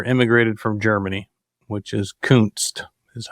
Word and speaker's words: Kunst: In 1870, in the 1870s, 1880s, my great grandfather immigrated from Germany, which is Kunst, is how you say it.